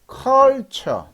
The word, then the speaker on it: culture: TH가 츠 발음 난다고 그랬잖아요. 츠 발음인데 이거는 발음이나 culture. 해보실까요? culture.